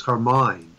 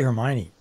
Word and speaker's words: Hermine: I believe it's Hermine or Hermine. I don't know how you pronounce that. I think it is. I'm not even sure. Do you know how you would pronounce that? Hermione is, or how's it spelled? Let's see. I'm looking to see how the National Weather Service. It is spelled H-E-R-M-I-N-E. I would say Hermione. Remember the famous person, Hermione Gingold, the comic character. So yeah.